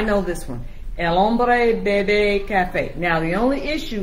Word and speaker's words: bebe: Not baby. Bebe.